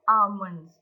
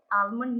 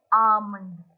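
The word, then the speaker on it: almond: में बोलेंगे crush the आमंड आलमंड नहीं है ये इसे इसकी प्रोनंसिएशन है आमंड एल इज साइलेंट तो बादाम पीस दो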